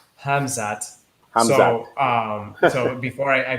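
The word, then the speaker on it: Khamzat: with kobit going on i keep saying hazmat but it's not that i have to really take the time and pronounce his name it's hamzat so um so before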